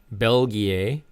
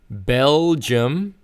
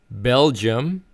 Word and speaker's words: Belgium: not Belgier. So it's Belgium. Belgium.